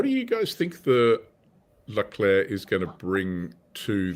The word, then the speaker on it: Leclerc: But yeah, definitely we're getting information that the second C is silent. Yeah, fair enough. So what do you guys think the Leclerc is going to bring to the French?